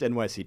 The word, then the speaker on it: $NYC: Just NYC token. The dollar sign is the ticker symbol.